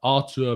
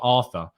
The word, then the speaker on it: Arthur: i think it's brazilian i think it's artur i i have i'm pretty good authority it's arto it's not arthur um i'm pretty sure it's artur but uh who knows